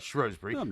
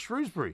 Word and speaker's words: Shrewsbury: yes so in fact you're wrong about Shrewsbury it should be pronounced Shrewsbury oh I'm not well I'm afraid you are why don't you just admit it because if the shrews is the nickname of Shrewsbury Town Football Club then surely you must admit that the local people who live in Shrewsbury pronounce it Shrewsbury right okay uh all